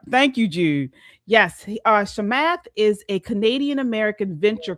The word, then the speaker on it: Chamath: His name is pronounced Shamath. Okay. So he is a Thank you, Jude. Yes. Uh Shamath is a Canadian American venture capitalist and entrepreneur.